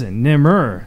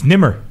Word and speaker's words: Nemr: Our guest is Nemr. Did I say it right? You nailed it.